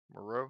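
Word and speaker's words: Moreau: Island of Dr moroe how do you say it Monroe moroe yeah yeah where they were on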